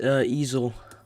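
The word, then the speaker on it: Ezell: No, there's one and it's Mike is facing a primary in George in Mississippi for I like to pronounce it as easel.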